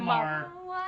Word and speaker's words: Maher: And Bill Maher is that how it's pronounced? Like the guy like from HBO or whatever. Oh yeah, Bill Maher.